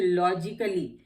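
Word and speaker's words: logically: ए silent इन words ending ICALLY। जहां पे भी ICALLY से वर्ड एंड होता है वहां पे ए साइलेंट होता है। जैसे लॉजिकली, क्रिटिकली। अब यहाँ पे लॉजिकली या लॉजिकली क्रिटिकली नहीं बोलते हैं, लॉजिकली क्रिटिकली।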